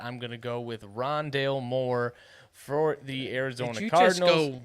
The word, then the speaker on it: Rondale: for the arizona car wandale rondale wandale rondale wow i was about to say that wandale sounds like a little kid in arizona rooting for rondale who just can't pronounce it yet and he's like